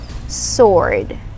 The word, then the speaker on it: sword: pronounced as sword no it's not sword it's pronounced as sword sword so it's like you remove the w in it sword sword say it all right so yes a